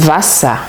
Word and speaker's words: Wasser: Par exemple, le mot Wasser, d'accord? Das Wasser. Je vous ai dit tout à l'heure que c'est un A prononcé brièvement.